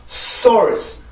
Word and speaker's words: source: S, 같은 S 발음인데, 지금 여기에서 보면, 여기에서는 소리가 굉장히 약해요.